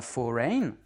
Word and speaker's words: foreign: Foreign. On dit pas foreign, on dit foreign. C'est la première syllabe qui est accentuée et la deuxième est réduite.